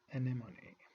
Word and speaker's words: anemone: So, the first creature that we're going to be talking about in today's lesson is called anemone. Anemone. Please care about the right pronunciation of this word.